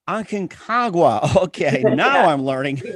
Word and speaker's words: Aconcagua: I'm having a hard time trying to pronounce the name. Aconcagua. Was it? Aconcagua. Aconcagua.